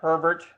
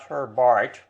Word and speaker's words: Herbert: name is oberon herbert i checked the pronunciation with two or three britishers and it's herbert not her bart as i previously believed for 60 years almost herbert was born in 1838 and he died in 1906.